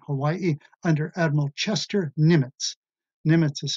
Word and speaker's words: Nimitz: Nimitz is spelled N as in nighttime, I-M-I-T-Z, Admiral Chester Nimitz, brilliant officer.